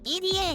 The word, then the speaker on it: EDA: KZ、枝じゃなくて EDA ね。